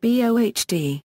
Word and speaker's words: Bode: gain plot and bow phase plot bow is pronounced BD the magnitude axis of the bowed plot is